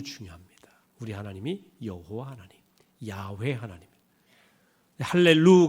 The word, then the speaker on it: 야훼: 여호와 란 말이 나왔는데 본래 발음은 야외 입니까 하나님의 이름이 유일하신